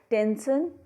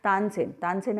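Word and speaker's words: Tansen: It grows over टेंसन टॉम. ठीक है. टेंसन की टॉम पर ये ग्रो हुआ है. टेंसन वॉज a great singer. तानसेन है एक्चुअली में, इंग्लिश के अंदर उसको प्रोनाउंसिएशन हम टेंसेन करते हैं.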